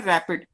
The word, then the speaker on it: RAPD: Clear, इसको pronounce करते हैं रैपिड।